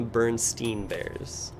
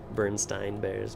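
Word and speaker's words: Berenstain Bears: I always called them the Bernstein bears. But this wording seems to indicate that it's pronounced stain. Bernstein bears, Bernstein bears.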